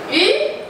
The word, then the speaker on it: 鱼: 鱼, the pronunciation in Mandarin of 鱼 sounds similar to the word extra.